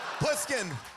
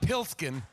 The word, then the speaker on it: Pluskin: to find out that you've already mispronounced the lead character's name pluskin pluskin not pilskin I said like I